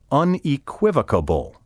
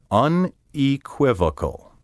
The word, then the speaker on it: unequivocal: to reflect the mispronunciation no matter who you hear saying unequivocable it's incorrect a beastly mispronunciation unequivocal ends with vocal v-o-c-a-l not vocable v-o-c-a-b-l-e take care to pronounce the word in five syllables unequivocal word 29 malleable m-a-l-l-e-a-b-l-e